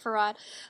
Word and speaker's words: Fard: Farad. Uh, that's spelled Fard.